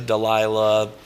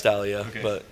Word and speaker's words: Dahlia: Oh yeah, people say Dahlia, Delilah, who knows, man, all kinds of shit. But it is Dahlia, isn't it? Yeah, it's Dahlia, but yeah, so that it helped, I think,